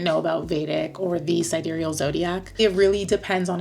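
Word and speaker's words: sidereal: and vadic astrology um also known as siderial cidal depends on how you pronounce it I say siderial so that's how we're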